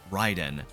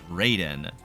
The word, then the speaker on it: Raiden: Classic MK characters, Scorpion, Katana, and Raiden, which actually kind of kills me to say because his name is derived from Japanese and it's supposed to be pronounced Ryden.